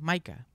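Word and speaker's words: Mika: saben del cantante británico mica se escribe mica con k Maica es un artista pop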